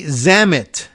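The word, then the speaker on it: Zammit: by state officials Tony zamit z- MMI T which I am imagine rhymes with well lam it and Dam it as well a former spokesman for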